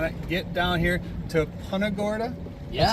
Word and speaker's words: Punta Gorda: And if you haven't done it, get down here to punorta. That's how you say it. Absolutely. We've been saying punaga.